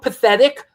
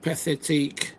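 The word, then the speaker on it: pathétique: The punk, is it punk pathetic or punk pathetique? Anybody hear this subgenre? Yeah. Yeah, it was his invention. He called it punk pathetique. Oh, pathetique. Okay. I knew I wasn't pronouncing it right.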